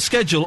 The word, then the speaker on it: schedule: Carol's just looking up the word schedule or schedule in the dictionary for me.